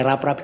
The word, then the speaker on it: Raprap: kan gitu Padahal Nama saya raprap itu satu kata ditulis sambung bacanya agak lembut-lembutlah rap-rap gitu dan ada sekarang ada